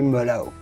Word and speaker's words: merlot: in the united states of course you know about merlot never say a lot but simply mellow then of course comes